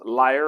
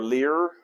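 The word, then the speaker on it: lyre: he plays his harp his liar or leer however you want to pronounce that l-y-r-e and then David is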